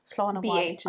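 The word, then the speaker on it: Slán abhaile: So the next one is Slán Awalia. Slán Awalia. Slán Awalia, yeah. Awalia? I think so because these two letters are making me think it's a V sound. Slán Awalia.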